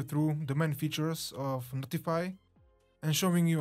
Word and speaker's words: ntfy: platform called notify which by the way is pronounced notify and it caught my attention IM immediately deploying